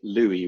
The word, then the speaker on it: Louis: that is recommended by louis rossman or lewis if you want to use his uh american pronunciation now i know some